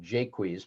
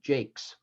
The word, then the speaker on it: Jaques: But the very best one of these is from As You Like It, when the character that most of us today call Jaques, but was probably in OP Jakes, tells of his humorous encounter with the fool Touchstone in the forest.